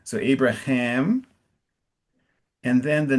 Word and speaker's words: Abraham: And so where So it's Abraham. Abraham and I didn't hear the ham. So Abraham and then the name of the Hittite is Ephron.